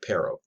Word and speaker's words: pero: i didn't have time is p e r o pero or pero more accurately you sort of flip